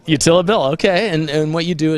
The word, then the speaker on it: YoUtilBill: And pronounced YoUtilBill. YoUtilBill, okay.